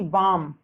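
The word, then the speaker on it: balm: जैसे कि बाम। बाम का हिंदी अर्थ होता है दर्दनाशक दवा में एल, जो कि एल जो है आपकी वो एक साइलेंट लेटर है।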